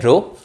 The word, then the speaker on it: rho: ठीक है, इसको प्रोनाउंस कैसे करते हैं, रो.